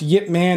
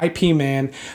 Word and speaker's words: Ip Man: Man is and yes it is pronounced Yip Man not it man or Ip Man but it is a